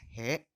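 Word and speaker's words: へ: Ingat minasangnya, kalau dalam hiragana ini dibacanya he, tapi kalau berfungsi sebagai partikel ini dibacanya e minasangnya.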